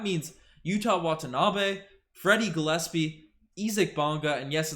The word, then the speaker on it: Isaac: name segment but uh his name's ezek not isaac bond guys from germany so that's how it's pronounced over there not to blame but